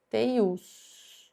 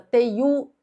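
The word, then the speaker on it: teiú: Teius. Professora, eu não conhecia essa palavra, não sabia que se tratava de uma palavra oxítona, não sabia que a pronúncia era essa, teiu, teius.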